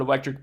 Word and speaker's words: electric: But one thing that happens with electric going to electricity, which hopefully you're aware of, is that when we have the word electric by itself, this ends in sort of that hard C sound, the k sound, electric.